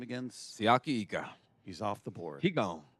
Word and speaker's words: Siaki Ika: Siaki Ika.